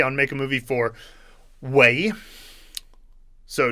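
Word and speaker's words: 为: Right, so this character Wei can also be pronounced Wei. It's both. So it depends on the context. Usually in the character Imwei, or the word Imwei, it's pronounced 4th tone, but sometimes people pronounce it Imwei. And if you're going to say Weila for something, for the purpose of Weila, that'll be 4th tone pretty much always.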